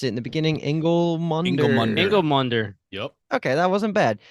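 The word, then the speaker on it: Ingilmundr: And again, I don't remember how we pronounced it in the beginning. Ingolmunder. Ingolmunder.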